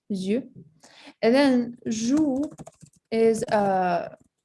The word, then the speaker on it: yeux: Yeah, so eyes is going to be yeux. All right, you pronounce it yeux.